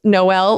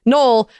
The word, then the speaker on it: Noel: well let you know my name is actually pronounced noel like christmas i am in fact